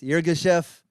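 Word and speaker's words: Yirgacheffe: I'm drinking an Ethiopian how do you pronounce this irga chef starts with a y ends with a chef spelled differently than the way you think the Ethiopian coffee holds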